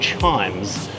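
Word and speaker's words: CHIJMES: I'm at this really cool precinct called Chimes. Was pronounced CHIMS. It's an acronym which is spelled C H I J M E S and it stands for convent of the holy infant Jesus uh middle education school.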